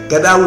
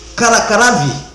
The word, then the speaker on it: Qaradawi: name I cannot pronounce, that Sheikh Gadawi or whatever, not Gaddafi. Yeah. Qaradawi. Qardwi. This is what the man said.